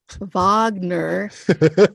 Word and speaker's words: Wagner: call from what V Wagner and he didn't look like a Vagner I'm doing the German pronunciation oh yeah yeah yeah